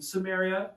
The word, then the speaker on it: Samaria: Uh I mean Samaria kind of rhymes with Arabia, right?